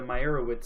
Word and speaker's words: Meyerowitz: Moving on, we got the Meyerowitz stories. I think I pronounced that right.